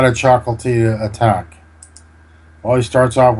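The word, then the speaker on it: Ciocâltea: This is a nice combination from the late Romanian GM Victor Chocoltia. That's how it's pronounced, I understand.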